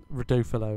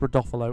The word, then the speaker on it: Rodolfo: rodolfolo as well uh that is how you say his name not um reduvelo as I think I called him but it's rodolfolo or Rudy for short